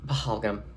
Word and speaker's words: Pahalgam: Pahalgam.